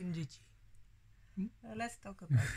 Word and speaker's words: Ịjiji: So it goes up.